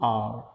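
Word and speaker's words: hour: And interesting, interesting, E interesting fill, and आर, यहाँ एच से start है, but pronunciation is आर, so sound is vowel sound, and आर।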